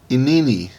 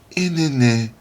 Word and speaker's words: Inini: Well, anyway, I looked up how to pronounce this. They had like a weird kind of way they said it. It was like, Inini. Okay, whatever. Inini.